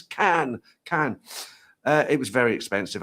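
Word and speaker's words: Cannes: I used to pronounce it Khn Khn. But the French will tell you and say no no it's can.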